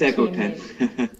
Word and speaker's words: Ekoten: I would now like to invite team number 3, Ekoten, or however you pronounce it. Yeah, it's Ekoten.